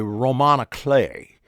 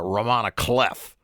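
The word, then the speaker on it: roman à clef: what they call a Roman clay which looks on in print like it's a Roman cleff but it's pronounced I do believe uh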